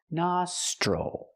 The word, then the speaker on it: nostril: and stop na nostril the TR makes the CH chicken sound plus the r sound CH nostal again the i l does not make the ill sound because it's not stressed it makes the o sound nostril I have one nostril